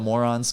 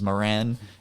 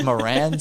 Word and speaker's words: Moran: So we decided on it being the Morons because my last name is Moran. And then everyone thinks it's pronounced moron my entire life.